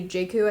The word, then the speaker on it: Jaku: Eddie Jaku, I think is how you say his last name, but he started speaking like in the last years of his life.